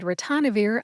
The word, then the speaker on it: ritonavir: As for Nirmatrelvir and Ritonavir, I used 2 different resources. Let's talk about where I found the pronunciation of Ritonavir first.